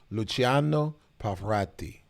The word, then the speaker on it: Luciano Pavarotti: I think you actually pronounce it Luciano Pavarotti.